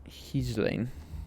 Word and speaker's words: Ghislaine: The official pronunciation or pronunciation is Ghislaine Maxwell. Ghislaine.